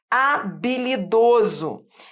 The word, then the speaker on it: habilidoso: ali tá bom vai habilidoso em habilidoso repare Eu tenho um dígrafo já parou para pensar é o h que não é pronunciado então ó tá vendo